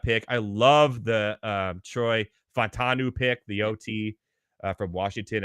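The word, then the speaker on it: Fautanu: I think that getting Troy, it's hard for me to pronounce. I will get the last name right at the end. It was Fontanu. Troy Fontanu.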